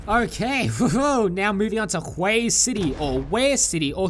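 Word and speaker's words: Huế: Hue City if you're new and not Vietnamese, Hue City if you heard how to pronounce it properly for the first time, and Ware City where your Vietnamese friend will say it's actually pronounced Ware City.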